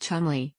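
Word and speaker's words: Cholmondeley: the spouse of David shumley pronounced Chumley seventh Marquis of Chumley who has been named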